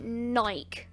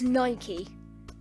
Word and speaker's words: Nike: podcast you know um when people say nike nike is not how you say it it's nike it's not nike say it properly it is nike charlie trigger's meltdown kanye